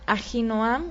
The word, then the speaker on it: Ahinoam: Ahinoam, su esposa, se llama, en hebreo se pronuncia Ahinoam, en español lo leemos Ahinoam, pero en hebreo es Ahinoam.